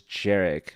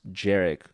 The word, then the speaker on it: Jerick: But yeah, this guy's name is Jerick, but there's no D. It's just Jerick with a J.